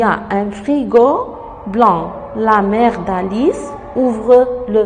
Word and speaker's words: blanc: Il y a un frigo blanc. Le C ne se prononce pas.